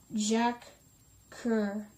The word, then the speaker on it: Jacques Coeur: Jacques Jacques, it's pronounced Jacques Coeur, 1395 to 1456, one of Europe's most extraordinary merchants, demonstrated the opportunities and risks of new forms of trade.